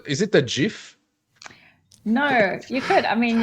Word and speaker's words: GIF: life lesson number one but it's GIF it's Jeff because it's a shot for giraffe so that's it yeah